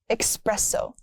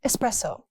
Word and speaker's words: espresso: Stop adding an X. Not espresso. It's espresso. I need an espresso shot.